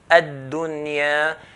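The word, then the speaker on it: الدنيا: So we're going to pronounce it as ad-dunya, ad-dunya.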